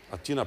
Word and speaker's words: Атина: Атина, правилно ударението, Атина.